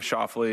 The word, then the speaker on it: Schauffele: So I give Schauffele as an easy go, but yeah, I'd say that the correct pronunciation would probably be the first one.